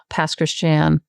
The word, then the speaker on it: Pass Christian: Um I was born in Jackson and then we moved down to pass Christian which is it's two words pass and Christian which is the Cajun pronunciation for Christian.